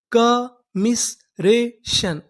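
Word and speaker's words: commiseration: टी आई यू एन शन पूरी meaning कमिसरेशन।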